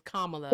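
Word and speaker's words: Kamala: He said, "Who is Camila Harris?" Come on. He said she's a I haven't said her name wrong. It's Kamla. I'm so sorry. Kamla. If you can't say Kamla, just say Harris.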